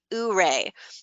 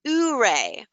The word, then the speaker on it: Ouray: We get asked every day, how do you pronounce OURAY? Well, we wish the answer was simple, but it's not. The origin of the word comes from the great Ute Indian chief Ouray, which in his language is pronounced Ouray. The local townspeople of Ouray, Colorado, say it Ouray or Year-A, while here on the building, we tend to pronounce it Your-A.